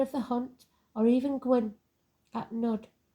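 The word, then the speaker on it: Gwyn ap Nudd: the hunt or even Gwinn at nud pronounced gwi of neth King of the fairies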